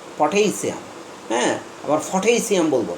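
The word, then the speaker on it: potassium: এই উচ্চারণটা আমি বলেছি পটাশিয়াম, এখানে টি এর উপর স্ট্রেস মার্ক আছে, এই জন্য এখানে ঠেই হবে, পটাশিয়াম, হ্যাঁ, পটাশিয়াম। প্রথম পিটা পয়ে থাকবে, এটা আবার ফ হয়ে যাবে না, পটাশিয়াম, হ্যাঁ, আবার পটাশিয়াম বলবো না, পটাশিয়াম।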